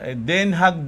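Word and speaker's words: Den Haag: ano yun hag no sa Den haug daw pronunciation ng mga tao doon pero sa mga foreigners the haig O ayan si Andre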